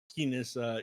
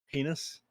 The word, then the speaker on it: heinous: Some people uh try to see the best in others when they're actually like heis evil villains. Heinus. That's the way to pronounce that word, right? It is indeed heinous.